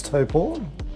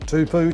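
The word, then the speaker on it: Taupō: We've already discussed how to pronounce Toppo, not Tupu. Topou Tutu. It is to.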